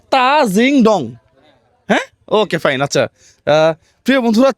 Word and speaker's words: তাজিংডং: উচ্চারণটা হবে তা জিংডং।